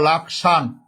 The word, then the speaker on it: লক্ষণ: যেমন যেমন হিন্দিতে যখন আপনি লক্ষণ বলবেন, লক্ষণ যখন হিন্দিতে বলবেন তখন এটা উচ্চারণ করে লাকসান। লাকসান। হিন্দিতে লক্ষণকে বলে লাকসান, আমরা বলি লক্ষ্মীপুর, হিন্দিতে বলা হয় লক্ষ্মীপুর।